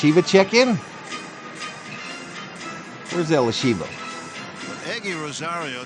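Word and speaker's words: Eguy: the plate eliva check in where's Elisha eggy Rosario spelled e there she is what's up Elisha good morning pronounced eggy eggy Rosio stri inside ed3 FIA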